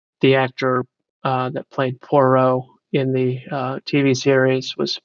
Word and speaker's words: Poirot: But Poirot, there's no roll of the R really. Agatha Christie Poirot is what you're saying? No, Poirot. P is in Paul.